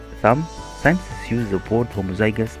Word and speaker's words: homozygous: Scientists use the word homozygous, pronounced homozygous, to describe having two of the same allele